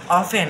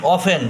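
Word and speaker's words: often: workers আর আফ অফেন মাঝখানে টি এর উচ্চারণ হবে না মাঝখানে টি এর উচ্চারণ হবে না অফেন ও এফটিই এন অফেন ও এফ টিই এন অফেন মাঝখানে টি এর উচ্চারণ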